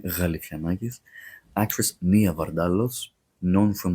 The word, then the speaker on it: Galifianakis: They say Galifianakis, but it's pronounced as Ga in the beginning, Galifianakis.